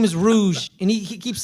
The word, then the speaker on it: rouge: Like That's a Moulin Rouge? No, Yeah. well, Rouge. it has an E. It has an E at the end. That's what I thought. The E is silent.